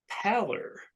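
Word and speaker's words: Paller: and it is Jim pallor I think it's that that's how you say his name p-a-l-l-e-r and he has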